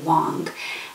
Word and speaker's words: Wang: It says Wang, but I think she pronounces it Wong.